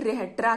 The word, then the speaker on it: Rhetra: जो constitution of Sparta है उसे हम ग्रेट रेहेट्रा कहते हैं। इसको कुछ भी प्रोनाउंसिएट हो सकता है, लेकिन मैं अपने तरीके से प्रोनाउंसिएट की हूँ, great रेहेट्रा, GREAT, great RHETRA, रेट्रा, great रेट्रा, जो कि लिखा गया था लाइकरगस।